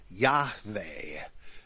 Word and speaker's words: Yahweh: J-A-H-W-E-H, pronounced Yahweh, and that they were trying to convey what the Hebrew would sound like.